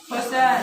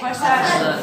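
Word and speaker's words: फ़सल: फसल। फसल। इसको आप फसल नहीं कहेंगे कभी भी। क्या कहेंगे? फसल। फसल कहेंगे। देखिए यहाँ पर हा के नीचे बिंदी रखी हुई है।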